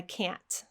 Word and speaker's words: can't: But if you have trouble producing that glottal stop at the end, go ahead and use your tongue and a burst of air for the T. I can't.